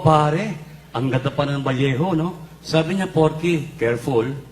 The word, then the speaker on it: Vallejo: Sabi ko wow pare ang ganda pa ng valejo. No sabi niya porky careful. Bakit? Kasi dito sa Valjo pag double L ang pronunciation niyan Valejo.